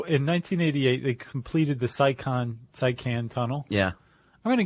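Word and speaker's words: Seikan: How do you pronounce that? The Saikan Tunnel? The Saikan Tunnel? Saikan.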